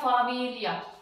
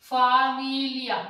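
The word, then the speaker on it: famiglia: Okay, वैसे ही एफ आ एम ई जी एल ई आ ये बन गया फामिलिया, फामिलिया ले बन गया।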